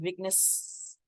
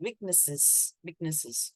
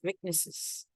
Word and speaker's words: weaknesses: So instead of weakness, you need to say it weaknesses, okay? It's clear with ES, weaknesses.